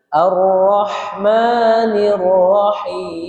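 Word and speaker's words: الرحمن الرحيم: Ar-Rahmanir Rahim.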